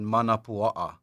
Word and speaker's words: manapua: And in the 1800s, the Hawaiians saw it and said manapua'a. Right. And they said mound of pork, and they mispronounced it to manapua.